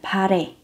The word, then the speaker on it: 발해: Đó là Bột Hải, phát âm là Pare.